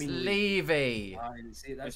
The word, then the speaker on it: Levy: It's Levy.